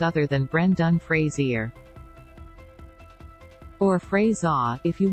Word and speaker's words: Fraser: understand how else Brendan Fraser's name can be pronounced other than Brendan Frasier or phrase ah if you want to be